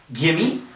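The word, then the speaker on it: give me: speed so let's just practice one more time gimme lemmy hafta hasta usta okay so if you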